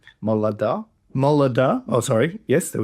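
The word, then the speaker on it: Moladah: Moladia. Molada.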